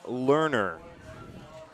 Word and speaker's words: Learner: Number eight, Jackson Learner. just how you would spell it.